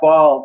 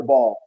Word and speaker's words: Bal: invited a guest ball how do you say your last name Bal or ball uh both are fine both fine okay that